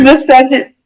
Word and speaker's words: miscegenation: It's miscegenation. Huh? What's the meaning? Miscegenation, it's a noun. It's spelled miscegenation.